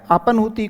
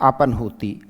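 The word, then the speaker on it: अपह्नुति: अपनूति को आप ऐसे पढ़िए। है आधा है न पूरा है और न है। तो राइट अपनूति इसका उच्चारण भी क्या होगा?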